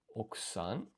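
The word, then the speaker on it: 奥さん: Okusan, I think it was, where this U is silent for some reason. Okusan.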